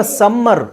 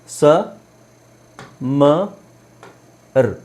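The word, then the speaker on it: summer: simple ಪದ ಅಂತ ಹೇಳಿದ್ರೆ ಎಸ್ ಯು ಎಂ ಎಂ ಈ ಆರ್ ಇದನ್ನ ಉಚ್ಚಾರಿಸೋದು ಹೇಗೆ ಸಮ ಹ ನಾವು ಅದನ್ನ ಸಮ್ಮರ್ ಸಮ್ಮರ್ ಅಂತ ಎಲ್ಲರೂ ಉಚ್ಚಾರಣೆ ಮಾಡೋದು ಏನಂದ್ರೆ ಸಮ್ಮರ್ ಸ ಮರ್ ಸಮ್ಮರ್ ಆಕ್ಚುಲಿ ಇಲ್ಲಿ ಇದರ ಅವಶ್ಯಕತೆನೇ ಇಲ್ಲ ಸಮ ವಿಂಟರ್ ಇನ್ನೊಂದು ಒತ್ತಿ ಸ್ಟ್ರೆಸ್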